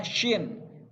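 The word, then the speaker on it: ش: Huruf shin itu selalu ditandai dengan ada titiknya 3. Jadi pelafalannya harus jelas. S-Y-I-N. Shin. Bibirnya, mulutnya yang bagian atas harus agak monyong gitu biar lebih jelas pelafalannya. Shin.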